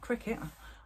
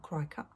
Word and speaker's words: Cricut: i said qriket or cry cut but it's actually called cricket i don't know why ass english say cry cut but it is cricket it's pronounced cricket the americans say cricket and it is definitely